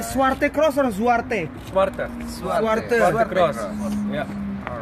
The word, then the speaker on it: Zwarte: Kita ke Zwarte Cross, the main event, the big festival. This is our driver, Tim. Tim. Going to Zwarte Cross festival. How do you say Zwarte Cross or Zwarte? Zwarte.